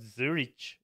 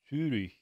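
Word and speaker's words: Zürich: It's not Zurich, it's Zurich, Zurich in German, and I don't want to go about my name.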